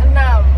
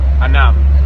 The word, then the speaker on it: enam: How do you say six in Indonesia? Enam. Enam. Enam.